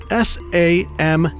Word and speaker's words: Samhain: It's spelled S-A-M-H-A-I-N. Samhain. Super phonetic.